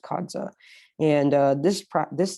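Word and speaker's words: qada: called the kadza type which is spelled q-a-p-a kadza it's pronounced kadza and uh this prop this type of salat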